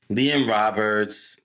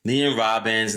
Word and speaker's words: Liam Robbins: Liam Roberts Robbins, I keep saying Roberts. Sorry, he butchered his name. Liam Robbins, not seeing much from him either.